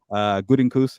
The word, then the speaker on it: Gutekunst: Gutekunst, how you say it, Fernando? Good. There you go.